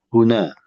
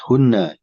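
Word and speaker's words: هنا: Ini huna bacanya. Bacanya huna. Jangan ditasyid hunna.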